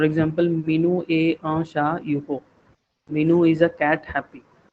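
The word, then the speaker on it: heureux: H, H is silent in the beginning in French language, and all the consonants are always silent in French at the end. So it is you ho.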